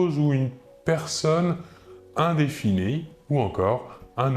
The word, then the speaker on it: une: une une il s'écrit u n e il faut bien différencier la prononciation entre le masculin et le féminin au masculin 1 et au féminin une voilà encore deux exemples